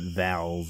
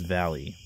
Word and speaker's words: Valles: Anyway, we're going to talk about Val-ee Mines, because that's how it, or Valles Mines, because that's how it's actually pronounced. It's not Vals or Vales, or as the Google Maps likes to say, Valles or whatever, Valles.